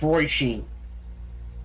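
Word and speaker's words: Róisín: So this is pronounced Roisin.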